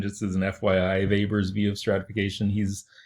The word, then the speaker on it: Weber: his name is Weber it looks like Weber but we use the German pronunciation just as an FYI vapors view of stratification he's